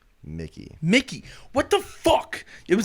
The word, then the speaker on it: Mickey: Did I say his name wrong? Mikey. Mickey.